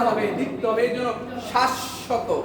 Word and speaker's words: শাশ্বত: যে যদি বাংলা শব্দে বফলাটা শুরুতে আসে বফলার উচ্চারণ হবে না, যদি বফলাটা মাঝে আসে বা শেষে আসে উচ্চারণটা ওই যে বর্ণের সাথে আসবে ওই বর্ণের উচ্চারণটা কয়বার হবে? দ্বিত্ব হবে। দুইবার হবে।